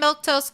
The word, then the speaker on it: Milquetoast: I'm Milktoast. That's how you say my name.